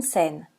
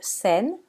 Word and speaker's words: scène: un accent alors que dans le mot scène on a ajouté un accent grave pour indiquer la prononciation et dans les mots